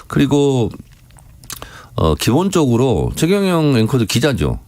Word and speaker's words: 최경영: 아, 그래도 본인이 원하는 걸 저는 발음을 그렇지 않습니다. 해달라고 그럼 하면. 본인이 원하면 예. 우리 최경영 예.